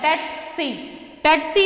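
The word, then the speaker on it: tsetse: पास टेटसी फ्लाई है, टेटसी इसलिए S silent है, टेटसी ये ऐसी फ्लाई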